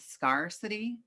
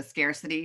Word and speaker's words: scarcity: about serial scarcity and i thought i heard scarcity so it's actually a long a so scarcity which is which i